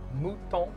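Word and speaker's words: Muton: There's no way we can pronounce it Mutton, right? No, it's Mouton. Mouton. Wait, I thought you were just saying mutant really weird. No. It's actually, yeah, Mouton.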